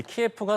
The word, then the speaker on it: 키예프: 그런데 여기서 좀 눈에 띄는 게 이 키예프가 사실은 이게 우크라이나어 발음이 아니라 이게 러시아어 발음이라고 하더라고요.